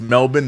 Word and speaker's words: Melbourne: CK, do an Aussie accent again for us in Melbourne. Um, first of all, you like how I pronounce it. It's Melbourne, not Melbourne.